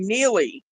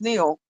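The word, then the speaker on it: Neale: don't I know it's it's like our last name it's it's NE e a l e the E is silent and everybody wants to call me neie I don't pronounce anything right NE and I'm like no it's pronounced Neil yeah that's what I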